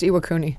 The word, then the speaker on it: Iwakuni: this you guys are going to IUN it's pronounced Iwakuni it is pronounced scosi scosi uh yeah we're